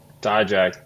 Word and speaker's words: Dijak: Dijak, yeah, you say it right.